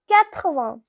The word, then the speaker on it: quatre-vingts: Now 80, it is pronounced as quatre-vingts.